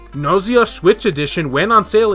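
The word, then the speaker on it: Gnosia: And if you're wondering about the game that he worked on, Gnoise, which I believe the G is silent, I'm not 100% sure about that, it's sort of a cross between Danganronpa, Zero Escape, and Deathmark.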